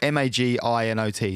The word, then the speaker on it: Maginot: it's called i'm gonna i've done how to pronounce it so m-a-g-i-n-o-t so it's french so even maginot i i